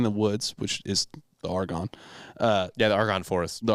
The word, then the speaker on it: Argonne: So I'm probably going to pronounce this wrong. You smell like schnitzel. In the Argonne? Is it Argonne? Oh, yeah, Argonne.